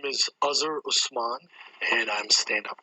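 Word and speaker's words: Azhar: tricks my name is azer usman and i'm stand up comic so here my name is like buzzer i wanted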